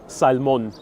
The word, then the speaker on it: salmon: is really good so everyone keeps telling me salmon has a silent l it does indeed in